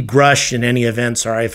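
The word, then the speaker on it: Grusch: with David grush and yes I guess that's his the way his last name is pronounced uh I looked at uh John Michael gautier's story on it he pronounced it groosh so I did as well but it seems to be grush in any events or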